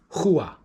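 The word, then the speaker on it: חוה: Her name is spelt chet vav he. It's pronounced Hua. It's pronounced Hua.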